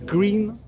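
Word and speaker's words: Gruene: Là, je suis à côté de New Bran à Gruen, ça se prononce Green.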